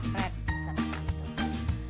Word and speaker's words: read: jawabannya bacanya hati-hati Ya kalau bentuk pertama bacanya read kalau sudah jadi bentuk Wow ke kedua yakni lagi lover Bacanya jangan ribut lagi Bacanya adalah red nah kalimat yang terakhir